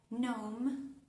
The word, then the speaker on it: gnome: Ejemplo, palabras como nome.